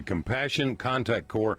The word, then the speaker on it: Compassionate Contact Corps: have heard of in a long time, the Compassion Contact Corps.